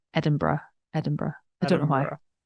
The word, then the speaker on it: Edinburgh: scene like in Edinburgh am I am I pronouncing that correctly close enough Matthew I say I say Edinburgh Edinburgh okay I hear a lot I hear a lot of kind of Americans say Edinburgh Edinburgh um Edinburgh um where that's not wrong